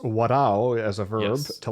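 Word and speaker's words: 笑う: And the story, as I understand it, etymologically, is that the character to laugh is pronounced warao as a verb, yes, to laugh.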